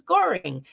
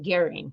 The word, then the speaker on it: Goehring: might just recognize her maiden name which was Goring some people pronounce it gearing but we always knew it is boring and